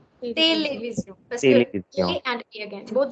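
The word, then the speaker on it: télévision: Tele, not tele. Television. Television.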